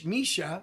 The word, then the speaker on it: Missouri: Since we have teams from Missouri in that tournament, they cannot start until Friday. That's the state. In Misha, that's how you pronounce it over there.